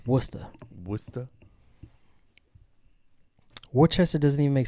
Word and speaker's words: Worcester: Woodchester? Worcester. Morons. It's Worcester.